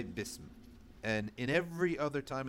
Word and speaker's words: bism: Okay, bism. So bism, I don't say bisam, bisim, busum, bism.